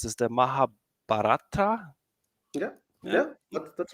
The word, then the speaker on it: Mahabharata: you have to corre correct me how to pronounce this the mahab batra yeah yeah that's right chatot with graph rag